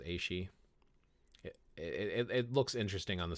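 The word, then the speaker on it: aos sí: The A-she, yeah, the greater Fae, I think, is the way it's pronounced, is A-she.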